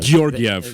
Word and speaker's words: Georgiev: Gorgiev. Georgiev.